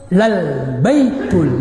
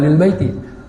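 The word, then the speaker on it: لَلْبَيْتُ: Sungguhnya rumah Allah pertama yang dibangun li ibadatin nas, untuk ibadah manusia, lal baitul ladzi. Lamnya lam taukid, ya, khabar daripada inna. Lal baitu bacanya, bukan lil baiti.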